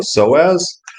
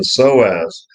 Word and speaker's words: psoas: And I think it has a specific effect on the psoas. And psoas is spelt funny. P-S-O-A-S.